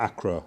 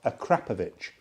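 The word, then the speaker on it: Akrapovič: Same with Akrapovic. Akrapovic. That's the correct pronunciation, Akrapovic. But everybody in the UK, everybody says Akrapovic or Acro. Everybody does. But the correct pronunciation is Akrapovic.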